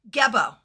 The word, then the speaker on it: Gebo: The winner is the one who gets, am I pronouncing it correctly? Gebo.